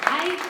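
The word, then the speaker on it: 爱: It's the same English pronunciation as I, to represent oneself.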